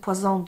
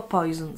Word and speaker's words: Poison: 1985 Poison Diora albo Poison z angielskiego. Cały no, smaczek w tej nazwie tkwi właśnie w tym, że można ją na sposób angielski i francuski wymawiać.